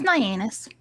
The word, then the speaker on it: Nyannis: No, it's Nyannis. Is it really? That's what she says. Uh-huh. It's like my anus.